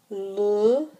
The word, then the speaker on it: le: The le instead of the les is telling you whether it is singular or plural. So that pronunciation, that difference in how you say le and les is very important.